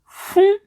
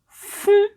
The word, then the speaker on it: fún: How to say give in Yoruba is fún, fún, fún.